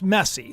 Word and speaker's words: Messi: that is pronounced Juliana Angelina says Messi is pronounced messy so I guess I'm